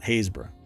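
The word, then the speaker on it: Happisburgh: how it looks yeah it's not it's not Habsburg it was like hayesburg or something uh hayesboro that's at hayesboro anyway on November uh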